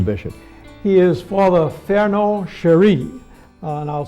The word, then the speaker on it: Cheri: He is Father Fernand Cherie, and I'll spell it C-H-E-R-I, Cherie.